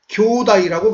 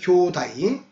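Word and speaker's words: きょうだい: 근데 일본어로는 이걸 어떻게 발음하느냐? 교다이라고 발음합니다. 이 형제를 교다이.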